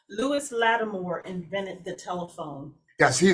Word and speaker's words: Lewis Latimer: And could you pronounce his name again? Lewis Latimer. Lewis Latimer invented the telephone.